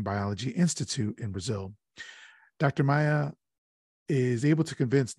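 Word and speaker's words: Maia: Geologist Dr. Carl Maya, I believe is how it's pronounced, is on an expedition in the upper Amazon basin, and he discovers a fossil embedded in some rock.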